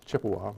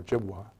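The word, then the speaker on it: Ojibwa: society that shows some chippewa or jibwa same tribes a different pronunciation of the name from northern minnesota who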